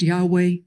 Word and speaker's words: Yahweh: in our prayer books those hebrew letters that come into english as y h w h that should be pronounced yahweh we pronounce them adonai